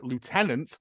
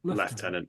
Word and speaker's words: lieutenant: difference is um uher the Americans say Lieutenant because of it's how it's spelled whereas we say we say leftenant yeah based on the French ah okay thank you